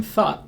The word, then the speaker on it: thought: words we've already discussed the beginning th is the voiceless like in thorough we have th the first difference here is what the vowels are doing instead of o in thought we have a this is a low back vowel a and the other important difference is that it ends with a stop T thought you might notice that